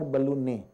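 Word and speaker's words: ballonet: as the air balloon please note the T in this word is silent so it's called as air ballon uh it's actually a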